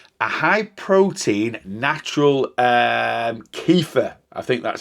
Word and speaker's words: kefir: high protein natural um kefir I think that's how you pronounce it uh drink uh I know uh keia that's it not Kea keia uh yogurt is very